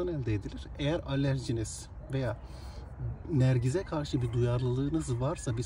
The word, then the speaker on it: Nergis: kullanılan bir bitki türüdür Nergiz diye telaffuz edilir Eee dediğim gibi Anadolu'da